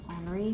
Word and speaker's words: Henri: you say that henry it's the same thing as the name henry but you're pronouncing it with a french accent henry matisse he's a really